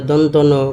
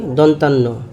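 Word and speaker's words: দন্ত্য ন: আগে সঠিক উচ্চারণটা শোনাচ্ছি। যেমন মূর্ধন্যন দন্তন কিন্তু অনেক সময় আমরা পার্থক্য করতে পারি না কোনটা দন্তন্য কোনটা মূর্ধন্যন মূর্ধন্যন যেটা এটার অর্ধমাত্রা পূর্ণমাত্রা হবে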